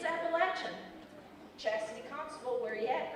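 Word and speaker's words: Apalachin: Some pronounce it Appalachian like Mrs. Alrech. Others pronounce it Appalachian like Tristan Haywood. I'm looking at you. It isn't either of those. It's Appalachin.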